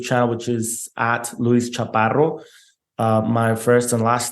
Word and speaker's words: Chaparro: It is Luis, and then my last name, Chaparo. And that's pronounced Chaparro.